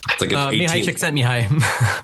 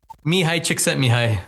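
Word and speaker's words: Mihaly Csikszentmihalyi: And I I can't even pronounce the researcher's name. It's like a Mihi chick sent me high. Say that again. Mihi chick sent me high.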